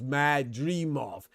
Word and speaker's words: Madrimov: He said 3 syllables, Madrimov.